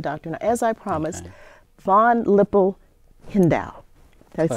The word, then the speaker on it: Von Hippel-Lindau: Now, as I promised, von Hippel-Lindau. Did I say it right? Von Hippel-Lindau.